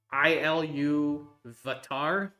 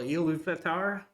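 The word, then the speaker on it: Ilúvatar: hard to say uh it's i l vatar so elu vatar okay vatar yeah something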